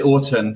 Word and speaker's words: Autun: It's a town in France, but I actually say Autun. That's what I normally say, because that's the Autun. autumn. People call me Autumn.